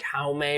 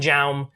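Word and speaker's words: Jaume: of my favorite directors his name is not john but it's spelled j-a-u-m it's like how may or something but if you listen to the podcast you know i call him jam he's a fine director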